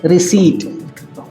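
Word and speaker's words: receipt: simple spelling है अगला अगला शब्द है रिसी आरई सीई आई प टी य प साइलेंट है और सी के बाद ई आई वाला रूल लागू है य आप देख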